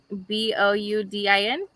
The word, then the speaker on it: boudin: in boudin yay huh you know how it's spelled b-o-u-d-i-n correct boudin oh i got it i nailed